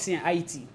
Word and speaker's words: Haiti: Haiti. Yeah. What's that? So Haiti. Good question. So whenever you hear the word Haiti, that's actually the correct pronunciation of Haiti. Is Haiti. IT.